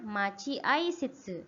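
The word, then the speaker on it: 待合室: Bacanya machi ai shitsu ya.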